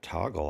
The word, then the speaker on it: Toggl: Okay, so since that's time management, I'm going to take off Fantastical and put Toggle on there. It's actually TOGGL. Of course it is. Extra cool without the extra syllable.